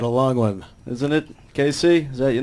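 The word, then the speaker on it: Kayse: Casey, is that your name?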